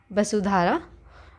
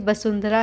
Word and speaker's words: वसुंधरा: फिर उसके बाद रामपिया, और आपका fourth place is वसुधारा, basically वसुंधरा है, जिसे वसुधारा भी प्रोनाउंस कर देते हैं कहीं कहीं पे, पर आप लिखने में ऐसे ही लिखेंगे।